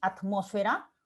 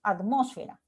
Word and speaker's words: atmósfera: La palabra atmósfera implica que ese at yo lo pueda pronunciar efectivamente con la T, atmósfera, como con la D, atmósfera.